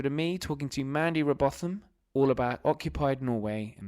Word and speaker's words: Robotham: It's Robotham, Robotham. My dad used to answer the phone Robotham like it was something posh, but I just say Robot.